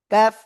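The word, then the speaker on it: كَ: তারপরে এই হরকাত বলব এইবার দেখেন কাফ জবর কি হয় কাফ বাংলায় লিখতে কি আসে কয় আকার কাফ তাই না তো দেখেন কাফ জবর তাহলে কি কাফ হবে? না কাফ জবর এই প্রথম অংশটুকু হবে। আমি কি বুঝাতে পেরেছি? কাফ জবর কাফ জবর কা তখন এই অংশটা বাদ যাবে।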